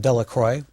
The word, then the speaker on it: Delacroix: Jones and Dickie Delacroix the villagers pronounced his name Delacroix meaning of the cross of course eventually made